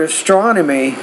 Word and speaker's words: astronomy: So with the word astronomy, you want to put the stress on that second syllable, astronomy.